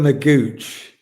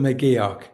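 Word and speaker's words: McGeouch: Um, number six is Dylan Mc Dylan Mcuch is it is that how you pronounce it? Uh, Mio. Dylan McGio.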